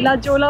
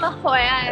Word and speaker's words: La Jolla: What is it pronounced? L-A-J-O-L-L-A. La Jolla uski spelling hai. Lekin bolte hai La Jolla.